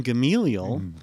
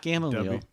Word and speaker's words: Gamaliel: Warren Gamaliel, not Gamaliel. Gamaliel. Is that how it is? Yep, I learned this. Gamaliel. Yep. Gamaliel. W. Gamaliel Harding. At least that's the way he pronounced it.